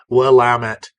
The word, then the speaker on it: Willamette: Northwest of the United States and yes is pronounced willamet it stretches from Portland Oregon in the north